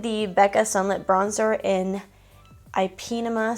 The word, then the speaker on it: Ipanema: becca sunlit bronzer in ipinema sun i think that's how you say it my mom told me it's ipanema but that sounds weird i actually really do